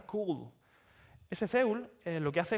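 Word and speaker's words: CeWL: O podemos utilizar un programa como el que pongo ahí, se pronuncia Cool.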